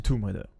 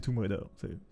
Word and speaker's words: Tomb Raider: de Lara Croft et qu'il vous dit tombe, vous pourrez le reprendre et lui dire c'est Tomb Raider. Non mais vraiment, c'est Tomb Raider. Tu prononces mal l'anglais, je sais. C'est pas grave, tout le monde fait l'erreur, tu vois.